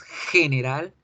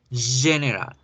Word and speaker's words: general: Ya no decimos general, en inglés debemos decir general, general, general.